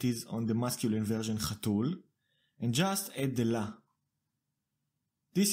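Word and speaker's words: חתולה: on the masculine version chatul and just add the la. This is usually not the case. In the male version, the stress was on the tul, but now it is on the la, chatula.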